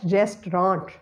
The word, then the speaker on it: restaurant: The second word is restaurant. Restaurant. It is comprising of three syllables, restaurant, but we have to eliminate the second syllable word and we will pronounce it as restaurant, restaurant, restaurant.